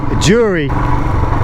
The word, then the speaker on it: Jeori: here like I said I think this place is pennounced jury sometimes how they're spelled and how they're pronounced or that's the English way they said it was so I'll go with that the easier option and I've got to